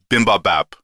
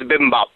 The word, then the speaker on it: bibimbap: give me some uh bimbab no i said that wrong how do you say it i think it's bibimbap you were close by